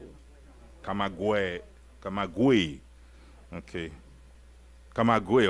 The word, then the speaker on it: Camagüey: Camagüey. Okay. Camagüey, right? Camagüey.